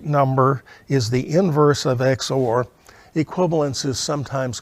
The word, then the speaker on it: XOR: circle plus symbol, and we would pronounce that A XOR B or A exclusive OR B. I, being lazy, am likely to pronounce it XOR because it has only 2 syllables when I do that.